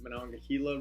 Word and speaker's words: Monongahela: York and then back down into Pittsburgh the Monongahela River that's a word that students always have trouble pronouncing well the gila starts in West Virginia